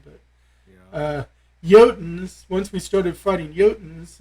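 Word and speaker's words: Jotun: finally started hitting the jotins and then actually it's yotan if you want to pronounce it in the true scandinavian but yeah uh yotans once we started fighting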